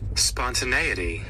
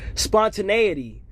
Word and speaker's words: spontaneity: to I get to look at how it's pronounced and what it even means. Spontaneity. Spontaneity.